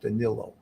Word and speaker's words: Danelo: was spelled d-a-n-e-l-o in essence Canelo but it's pronounced Danilo so thank you for that Portuguese person that